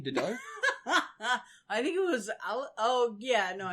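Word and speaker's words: Dedue: So, next up, we have the person I now retract Lunk from, what was his name, Dido? I think it was, I think it was Didu.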